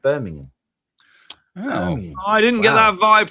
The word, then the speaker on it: Birmingham: Birmingham, maybe it's Birmingham, Alabama. And that's Birmingham. Emphasis on the ham.